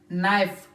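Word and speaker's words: knife: भी it mean that one के comes before N सो के रिमेंस साइलेंट के कैन नॉट बी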